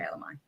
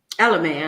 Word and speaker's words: Ella Mai: Is it Ella Mai or Ella Mai? Ella Mai, I think. Ella Mai, because it's spelled M-A-I.